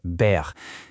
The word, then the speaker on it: Baer: Baer et au passage, la prononciation exacte est Baer.